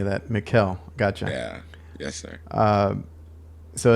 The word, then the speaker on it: Mikhael: It's Michael, right? It's just with a K instead? It's Mikhael, so it's spelled like Michael, Mikhael. but it's a K instead of a C.